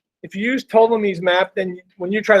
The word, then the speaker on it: Ptolemy: By the way, you don't pronounce the P. If you use Ptolemy's map, then when you